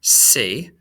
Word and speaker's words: c'est: It's pronounced c'est, kind of like we pronounce the word S-A-Y in English, okay?